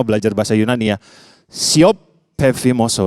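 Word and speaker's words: πεφίμωσο: Di dalam bahasa Yunani, tulisannya tuh siope, tapi bacanya siop, pefimoso. Kita baca sama-sama belajar bahasa Yunani ya. Siop, pefimoso.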